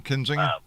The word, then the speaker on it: Kinzinger: I always get his name wrong. Adam Zinger or Adam Kinzinger, Kinzinger, yeah.